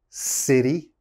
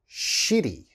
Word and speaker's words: city: is city okay city city you have to pronounce that city and a lot of my students say shitty okay you don't want